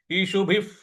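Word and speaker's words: इषुभिः: इस प्रकार से बोलेंगे ईशुभ ब पर छोटी इ की मात्रा है और उसके बाद जो विसर्ग है उसका उच्चारण हम फ ले आएंगे तो ईशुभ ईशुभ इस प्रकार से बोलेंगे इशुभ प्रति इशुभ प्रति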